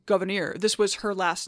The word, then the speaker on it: Gouverneur: story Governor Morris again his name is derived from his mother's hugenot French Protestant name surname pronounced goir this was her last